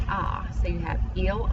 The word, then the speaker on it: a: They are all just the letter A, and it is pronounced ah.